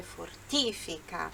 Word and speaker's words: fortifica: Só que olha só, qual que é a sílaba forte do fortifica? É o fortifica, fortifica, enquanto no português é a mesma palavra, só muda a sílaba forte, né? Fortifica. No italiano é fortifica. Ele canta assim, se non uccide, fortifica, fortifica, mas o correto é fortifica, tá bom?